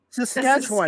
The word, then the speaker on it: Saskatchewan: I did do, and I'm not going to pronounce it correctly, and Canadians, I'm sorry, the Saskatchewan, is that right? That's right, Saskatchewan.